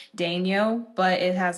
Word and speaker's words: Daigneault: How you say it is literally 2 syllables, but how Yeah. it's like spelt is 10. Like it's a journey. Yeah, it is. But it's a journey. Daigneault, man.